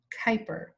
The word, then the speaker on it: Kuyper: His name is pronounced Abraham Kuyper.